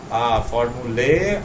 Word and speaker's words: formulae: Formulae, or better if you say formulae. Okay, formulae or formulae, both are okay.